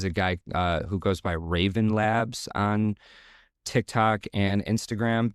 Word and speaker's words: Wraven: guy who goes by Raven Labs on TikTok and Instagram. The Raven is spelled with a W. It's WRAVEN.